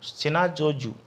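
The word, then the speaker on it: synagogue: दोस्तों नेक्स्ट जो है सिनागोग्यू, सिनाजोजू, इसको अपन दोनों ही बोल सकते हैं, सिनागोग्यू या सिनाजोजू, जोजी। इसमें यू साइलेंट है दोस्तों, तो इसको अपन बोलते हैं सिनाजोजी।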